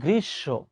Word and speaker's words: গ্রীষ্ম: এই যে এখন উচ্চারণ করবে কি গ্রীষ্মকাল আহা উচ্চারণ কিন্তু গ্রীসব নট গ্রীষ্ম ক্লিয়ার থ্যাংক ইউ কেউ জন্ম আমার